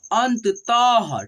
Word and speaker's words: अंततः: विसर्ग को हम लोग ह के रूप में उच्चारण करते हैं, ठीक है। तो देखिए यहाँ अंततः, ठीक है, अंशतः, अंशतः, ठीक है, अंशतः, ठीक है।